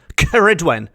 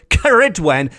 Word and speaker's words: Ceridwen: Mabinogion, of old Welsh tales will be familiar with the name Ceridwen, as will modern-day pagans.